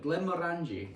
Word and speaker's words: Glenmorangie: Glen Morani. Glen Morani. Yeah, indeed. We roll the Rs.